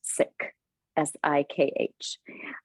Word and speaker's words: Sikh: It's actually pronounced Sikh, Sikh.